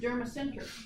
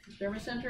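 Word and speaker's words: Dermacentor: This is Dermacenter. So Derma sent her and her son, the tick. Dermacenter and her son.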